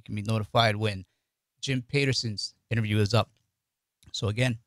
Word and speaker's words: Peterson: to have jeff peterson it's not patterson it's peterson he said he knows who his friends are by the way they pronounce his last name so i'm saying peterson jim peterson ceo of